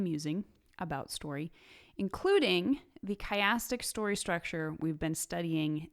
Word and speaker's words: chiastic: mispronouncing this all along it's not chastic it's chastic sometimes called ring structure a